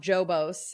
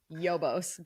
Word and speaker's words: Jobos: So not Jobos and not Hobos. It's Yobos based. Yeah, you could confuse how it's said, but it's Yobos.